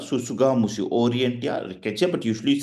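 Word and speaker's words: tsutsugamushi: Scrub typhus, this is usually, it is called Susuga mushi, Orientia rickettsia, but usually you say Orientia, Susu, T is silent, Susuga mushi, Susuga mushi, okay, Susu, SS is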